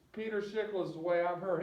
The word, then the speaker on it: Peter Schickele: I've heard it pronounced Peter Schickele, Peter Shaquille, but it's Peter Schickele is the way I've heard him actually say it.